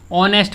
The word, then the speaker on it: honest: इसमें क्या होता है, एच साइलेंट होता है, ठीक है। एच क्या होता है, साइलेंट होता है, मतलब एच को बोला नहीं जाता। तो इसको कैसे पढ़ते हैं, ऑनेस्ट पढ़ते हैं।